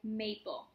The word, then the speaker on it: maple: I have a word like maple. May, A, that's an open syllable. And then pull. Now, the E, just like in V-E, is volunteering to be in the syllable, but it's not saying anything. So you'll just say pull in this case.